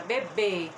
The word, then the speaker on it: bebê: leite na mamadeira gente olha a minha pronúncia que eu falei com bem infatizando a sílaba tônica olha bebê esse som e tem a tem um circunflexo e depois tem bebe leite bebe a sílaba tônica é o primeiro der certo